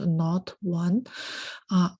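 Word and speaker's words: NotI: does enzyme not one the last letter here is a roman numeral so it's pronounced not one cut pmsh2 all right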